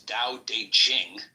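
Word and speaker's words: Dao De Jing: book you're referring to the DA Ching pronounced more or less da de Jing can be translated as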